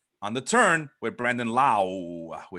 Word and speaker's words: Lau: the turn with Brandon Lau, that's the way I got to say it now because I get confused with the Lowe brothers, unless Sean's telling me that I'm mispronouncing his No, name again.